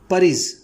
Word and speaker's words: porridge: परीज, ध्यान दीजिएगा इसका प्रोनाउंसिएशन परीज होता है, PORRIDGE, परीज।